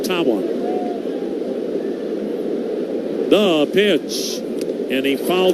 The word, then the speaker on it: Tawa: You spell his last name T A WA. It is pronounced Tawa.